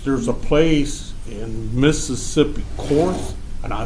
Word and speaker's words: Corinth: a little research, there's a place in Mississippi, Corinth, and I say it wrong, but the Battle of Shiloh, and they went down to this railroad town in Mississippi out of Tennessee, Mm-hmm. Cornith, Corinth, Mississippi.